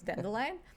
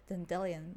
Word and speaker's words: dandelion: one of them because I had no idea that it's dandelion and I would say dendelion like do you mean d dandelion and I would always say that I like my pronunciation better